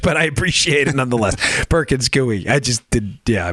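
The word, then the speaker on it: Perkins Coie: who comes in a private contractor paid by Perkins cuy who was also paying Perkins cuy well thank you for everyone who corrected the pronunciation in that by the way I really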